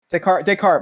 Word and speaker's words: Descartes: what he's you know just how do you pronounce his name just Descartes this is Descartes my bad I'm sorry so yeah it's just